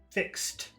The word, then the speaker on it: fixed: Fixed. Fixed. That's difficult for people to pronounce. What you do is you say fix, stop, t, fix, t, fix, t, fixed, fixed.